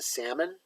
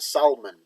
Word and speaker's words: salmon: he calls it the salmon well he's danish so he calls it the salmon he looks like first of all that l is silent dude it's uh it doesn't describe it to me salmon does this that's the